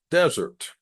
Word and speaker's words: desert: or have to proofread and revising Dessert versus desert now this is a spelling trick dessert because of the two s's notice I pronounce it differently these letters the two s's